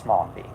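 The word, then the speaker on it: Mombi: princess n Mambi I caught myself before I mispronounced it princess Momi Dorothy Must restore Oz with her new friends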